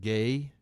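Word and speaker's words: Gueye: whose last name was spelled like g-u-e-y-e but it's pronounced gay and so he's sitting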